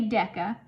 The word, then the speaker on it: deca: we can say that's the prefix deca that's how you say it you say deca so it'd be a